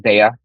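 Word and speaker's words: Daiya: The only cheese that melted was Daya cheese, or pronounced Daya.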